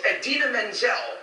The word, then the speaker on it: Idina Menzel: The iconic and brilliant Idina Menzel, pronounced exactly as it is spelled.